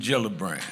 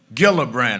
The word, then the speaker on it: Gillibrand: Senator Kirsten Gillibrand. She came that Saturday and I said I introduced her as Gillibbrand. I couldn't say her name right.